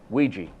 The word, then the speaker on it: Ouija: Well, it's often mispronounced. Ouija.